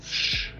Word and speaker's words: SSH: You pronounce it shh.